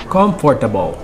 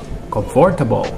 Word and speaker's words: comfortable: Second word is comfortable. Comfortable. No, it's comfortable. One more time. Comfortable. All right.